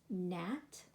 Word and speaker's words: gnat: So you can note in all of these words that the first consonant is silent.